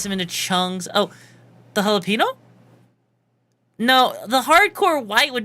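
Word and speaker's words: jalapeño: That's not Joel Aeno. No, that's not how you say it. No, it's jalapeno. It's jalapeno.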